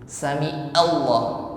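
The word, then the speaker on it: سمع الله: Pada waktu i'tidal itu Sami'allah, itu kebanyakan orang masih mengucapkan pakai hamzah. Sami'allah, bukan hamzah tetapi ain, ya.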